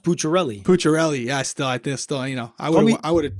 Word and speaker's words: Pucciarelli: Well, not really, because his last name is pronounced Pucciarelli.